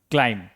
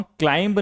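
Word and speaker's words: climb: इसको हम क्लाइंब नहीं पढ़ेंगे। क्या पढ़ेंगे? क्लाइम।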